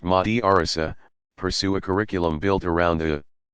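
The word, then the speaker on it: madrasa: called madrassas students in a madrassa pronounced Mahdi Arzo pursue a curriculum built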